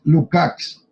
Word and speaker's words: Lukács: bueno, en realidad habría que pronunciarlo como es, Lukács, porque es que Lucas suena como a un músico de rock.